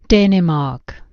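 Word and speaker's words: Dänemark: है ठीक है देखो प्रोनाउंसिएशन डेमार्क देखो डेनमार्क डेमार्क डेमार्क it's like आए आए ठीक है डेनमार्क ठीक है इट्स लाइक आए समझ समझ गए?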